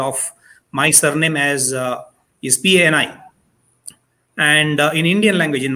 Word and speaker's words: Pani: Like, I will give you a very simple example of my surname as is P-A-N-I. And in Indian language, in my language, I'm from Odisha, it would be pronounced as Pani.